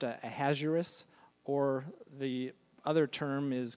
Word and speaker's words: Ahasuerus: Yeah, I've heard it pronounced Ahasuerus, or the other term is King Xerxes.